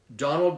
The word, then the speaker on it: Donald: would say that the just to to pronounce Donal so it pretty much you you just stop in the D like T Donal Donal right can you